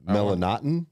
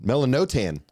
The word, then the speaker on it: Melanotan: is what it was not melatonin melanaughton melanotan melanotan yeah yeah so that's the one